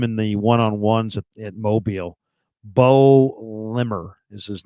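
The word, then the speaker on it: Baux: His name's Bo Limmer. Mm-hmm. Bo is spelled B-A-U-X, Limmer.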